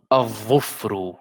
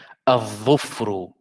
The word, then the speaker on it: الظفر: So I will say الظو الظفر. This is dhamma here. الظفر الظفر. And alif is qamariyya. So I will say الإصبع الإصبع. So here I don't pronounce the lam, and here I pronounce it because of the next letter.